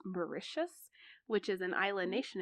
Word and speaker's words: Mauritius: trip to I and Wikipedia tells me it's pronounced Mauritius which is an island nation in the notion